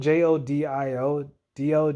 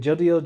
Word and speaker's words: Jodio: Jody Jody Joseph man it's spelled j-o-d-i-o-d-o jodio jodio I I assumed as I said jodiel Jose is take place